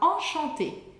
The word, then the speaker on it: enchanté: A gente fala enchanté. Enchanté, a pronúncia é idêntica no feminino e masculino. Mas no feminino a gente vai escrever com um E a mais. Mas a pronúncia é igual, tá?